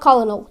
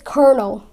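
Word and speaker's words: colonel: you said it's wrong it's not colonal it's kernel can you imagine it's kernel another reason people can't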